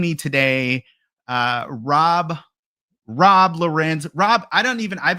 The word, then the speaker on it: Lourens: And I have joining me today, uh, Rob Rob Loren. Rob, I don't even I've been calling you Rob Loren. Is it Loren or Laurens? Uh Lauren, but you know, either is fine.